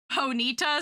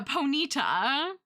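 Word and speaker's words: Ponyta: I like Ponita spelled like Bonita and it's just like got big cute eyes. Yeah. Ponyita.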